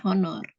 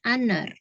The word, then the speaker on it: honor: kata tulisannya honor ya tapi pas dibaca itu bukan honor tapi honor jadi hanya itu kan nggak dibaca Nah kalau ini karena soundnya itu kan lebih saat pengucapan itu kata honor itu lebih terdengar seperti huruf vokal maka kita menggunakan n ya